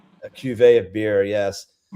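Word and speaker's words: cuvée: So, you just made what's called a cuet. It's a cuet. A cuet. A cuet. A cuveet of beer. Yes. How do you spell that, Kevin?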